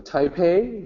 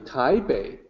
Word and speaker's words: Taipei: when you visit Taiwan go to Taipei you say Taipei well it's actually ty babe with the B sound in a Chinese restaurant